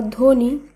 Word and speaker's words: ধ্বনি: একইভাবে শ্বাস বা ধ্বনি এই শব্দগুলিরও প্রথম বর্ণে যে বফলা রয়েছে, যখন আমরা শুদ্ধভাবে উচ্চারণ করব সেখানে বফলা বাদ দিয়েই শব্দটিকে শুদ্ধ উচ্চারণ করতে হবে।